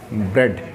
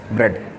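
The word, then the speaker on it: bread: This is नॉट ब्रेड actually, this is ब्रेड। ब्रेड, ब्रेड। Maryam Webster dictionary कहती है कि ये ए इसमें साइलेंट है।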